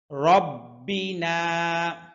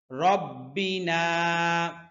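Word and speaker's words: رَبِّنَا: ইলা ওয়া ইন্না ইলা রব্বিনা র মোটা হরফ খেয়াল করে শুনুন রব্বিনা রব্বিনা রব্বিনা লামুন লামুন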